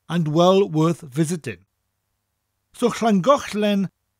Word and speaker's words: Llangollen: So you already know how to say the double L at the beginning of a word. When we get to the double L in the Gochlen bit, it sounds slightly different. It sounds like the pronunciation Goch, as in Van Gogh, the Dutch Impressionist painter, followed by a slight L sound. Chl. Gochlen. Gochlen. Llangollen.